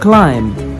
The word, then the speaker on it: climb: the letter B - the letter B is silent when it comes after the letter M before the example and climb Krum thumbed dumb plumber